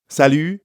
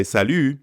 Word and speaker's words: salut: day morning or evening Salu ends with the French sound e e yeah that's very French we to make this sound salute say e but pucker your lips salute Buffet let's practice repeat